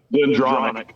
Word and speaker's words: Glendronach: And you've got the Slang Irish whiskey, the Glendaranch, I think that's how you pronounce it. What? Glendronach. Glendronach. And then, of course, one of my personal favorites, Old Forester.